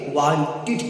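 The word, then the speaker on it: wanted: अगर किसी भी वर्ड के अंत में टी हो या डी हो, अगर आप उसमें ईडी को जोड़ते हैं तो उसका प्रोनाउंसिएशन एड न होकर ईड होगा।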